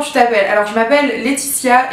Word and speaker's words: Laetitia: Alors je m'appelle Laetitia et pas Titia, ni, ni voilà. Petite référence à ma Nicole si tu me regardes qui m'appelle tout le temps, c'est trop marrant. Je m'appelle Laetitia et ça s'écrit L-A-E-T-I-T-I-A.